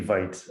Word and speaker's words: Vite: this it might be it might be vites i could i don't know why i went to vita i don't know which one is is correct z it's just v like feet with a v thank you um interesting